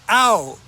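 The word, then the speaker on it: เอา: something like an object the verb is out just like you know if I hit you what are you going to say OU out not ouch ow come on so we say ow so if I want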